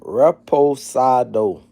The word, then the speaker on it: reposado: Listen, it's called reposado. Not respiration or repro man. It's called reposidado. That's how you pronounce it.